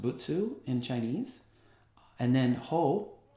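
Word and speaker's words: 仏: That first character, top right, is the character for Buddha, pronounced Butsu in Chinese.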